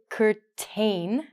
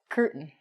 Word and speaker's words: curtain: sounds as an example we don't say curtain which it looks like we actually say curtain a curtain is a